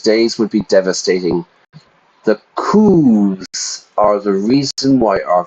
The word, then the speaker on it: coup: return to those days would be devastating the coups are the reason why our country stagnated for